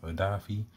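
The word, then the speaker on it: Odafe: Then I want to see, man, that'd be something if Odafi, I think that's how he said he wanted it's pronounced, Odafi.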